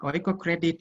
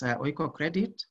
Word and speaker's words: Oikocredit: So Oikocredit is pronounced as one word. We don't pronounce that as Oiko. It's Oikocredit that means we believe